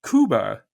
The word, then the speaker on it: Cuba: inhabitants now extinct is is pronounced Kuba by the Islanders and this is not